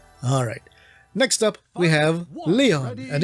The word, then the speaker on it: Lion: Next up, we have Leon, and even though it's spelled lion, it's pronounced Leon.